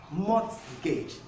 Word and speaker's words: mortgage: In castle, most people will pronounce this as castle. This is not pronounced as castle, but it's pronounced castle because the letter T is silent.